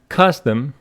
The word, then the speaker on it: custom: So if we go for the word custom in our Longman, it says custom with the stress on the first syllable.